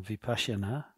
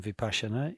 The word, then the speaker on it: Vipassana: So one, just mention, somebody said that they felt they should meditate on Vipassana, as we call it in Mahayana, pronounce it in the Sanskrit way, before meditating on deities in Vajrayana.